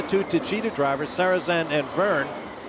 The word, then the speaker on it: Vergne: Then the two Tito drivers, Sarzan and Burn, which rhymes with slow burn, which may be what the Frenchman is doing right now.